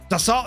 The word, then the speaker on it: Dassault: It's pronounced Dassault or Dassault. Dassault, it's French.